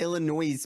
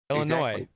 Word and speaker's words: Illinois: the letters and like it's not self-explanatory that the s is gonna be silent right like i agree